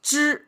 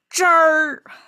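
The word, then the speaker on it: 支儿: But if they add a at the end, that means not only you pronounce zhi, but you have to curl the tongue at the very end. It become zher instead of zhi, it become zher.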